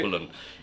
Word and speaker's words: Dublin: And I like the way you say Dublin. That's the way it's pronounced the right way to say it, right? Dublin, h the capital of Ireland.